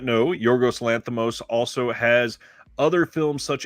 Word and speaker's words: Yorgos Lanthimos: I also agree with him wanting to highlight Yorgos Lanthimos, I believe is how you pronounce it.